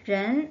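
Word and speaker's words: 人: 어떻게 발음하죠? 런.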